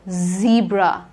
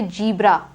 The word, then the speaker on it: zebra: and white stripes z zebra no one should say gibra after this session none of you should pronounce it as jibra it is not gibra it is z zebra zimbabwe zimbabwe ozone it